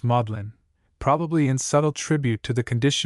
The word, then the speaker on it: Magdalen: At Oxford, the seed of learning, Magdalene is pronounced Modlin, probably in subtle tribute to the condition of the person who first pronounced it.